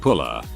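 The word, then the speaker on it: pulla: But there is this sweet bread dessert which in Finnish is called pula. However, in Romanian pula, 1 L instead of 2, but it is pronounced the same, means dong.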